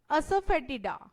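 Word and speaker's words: asafoetida: English में से बोलेंगे असफेटिडा. असफेटिडा. ब्रेक करके बताती हूं मैं से. असफेटिडा. असफेटिडा.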